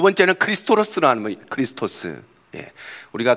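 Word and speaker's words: Χριστός: 있습니다 굉장히 무식한 사람이죠 x가 아닙니다 이거는 영어의 말할 x가 아니고 헬라에서 말하는 키입니다 키 키라고 이런데 CH 발음이납니다 그래서 크라는 말이고 고다음 보시면 피 피같이 생긴게 R 발음이 나옵니다 그래서 크리스토스 이렇게 있는데 그리스도라는 의미를 가지고 있습니다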